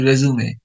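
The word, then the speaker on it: résumé: প্রথমে আপনাকে এক্সেলেন্ট একটা কি লিখতে হবে, কি লিখতে হবে দেখুন, খেয়াল করুন কি লিখতে হবে, সিভি অথবা রেজুমে, উচ্চারণটা কিন্তু রেজুমে।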